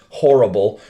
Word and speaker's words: horrible: In fact, it's literally spelled the same way in English, horrible, but in Spanish it's horrible.